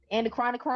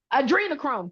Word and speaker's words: adrenochrome: Maybe Marcus, you can help me pronounce this right. The anacron chronocchrome. Anacronocchrome. Uh, adrenocchrome. Adrenochrome.